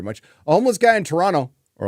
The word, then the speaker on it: Toronto: a homeless guy in Toronto or I'll say it like they do there Toronto Toronto uh built a house